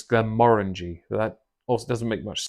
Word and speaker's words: Glenmorangie: Um although to be fair based on how it's spelled on the box, you'd think it's Glen Morani. Uh but apparently it's Glen Morangi.